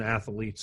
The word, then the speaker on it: athletes: They tend to that happens in adolescent athletes a lot. Athletes, that doesn't have three syllables, does it, buddy?